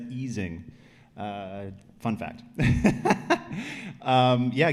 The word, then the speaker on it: Ising: a condensed matter person you pronounced ising correctly I never do that it's eing uh fun fact um